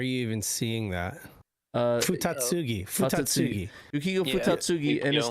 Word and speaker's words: Futatsugi: Yuko Jo sorry Joe's the other person that pronounced it on the other show uh Dave was it Yuko futagi Fugi where are you even seeing that uh futatsugi futatsugi Yuko futatsugi and his team took advantage